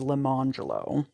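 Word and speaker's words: Lemonjello: lemon jello also black whose parents further dignified their choice by instituting the pronunciations arangelo and Le manjulo now that first one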